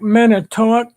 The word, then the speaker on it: Manitowoc: Manitowoc. Manitowoc? Manitowoc. Manitowoc. Okay. It looks like Manitowoc, Yeah, but that's what. it's pronounced.